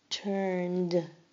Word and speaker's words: turned: Turned. Turned. Notice you only hear the d sound at the end.